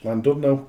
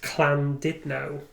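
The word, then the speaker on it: Llandudno: Cuz I didn't pronounce Landon know correctly.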